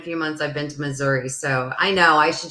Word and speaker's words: Missouri: you say it Missouri or Missouri Marianne says Missouri you'll see you'll see that like when we